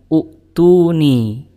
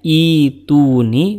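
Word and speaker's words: ائتوني: Nah, ketika waqaf di kata fis samawat dan ibtida setelahnya, itu bacanya bukan utuni, tapi dibacanya adalah fis samawat ituni. Kenapa dibacanya ituni bukan utuni? Padahal berdasarkan kaidah kalau huruf ketiganya itu dhammah, maka hamzah wasalnya juga dibaca dhammah.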